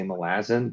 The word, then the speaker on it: Malazan: read uh I'm trying so hard to say Malazan because I don't pronounce it that way and I can't force